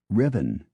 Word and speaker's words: Ruthven: Ruthven is Riven.